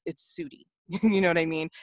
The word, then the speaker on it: Sudie: Just being able to say, hey, I know you found my name hard to pronounce, but it's Sudie.